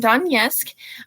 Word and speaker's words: Donetsk: And yes, I had to look up how to pronounce that because I did not want to do the infamous Jaime thing and butcher that word. So they are from Donetsk.